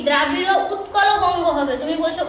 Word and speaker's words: উৎকল: তোমার গানটা এমনি ঠিকঠাকই আছে, কিন্তু তোমার উচ্চারণে কিছু ভুল হচ্ছে। যেমন তুমি বলছো হচ্ছে কি দ্রাবিড় উৎকল বঙ্গ হবে, তুমি বলছো উচ্ছল বঙ্গ।